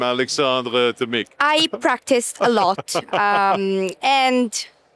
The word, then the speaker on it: Alexandre Tomic: I like the way you pronounce my name, Alexandre Tomic.